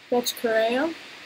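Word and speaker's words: Bethe Correia: I have Betch Correa. Proper pronunciation, too.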